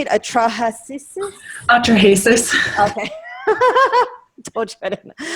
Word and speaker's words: Atrahasis: Atrahasis.